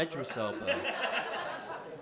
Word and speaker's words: Idris Elba: Am I saying his name wrong? It's a bit weird, not gonna lie. Idris Elba. Idris. I'm Muslim, guys. That's the correct pronunciation.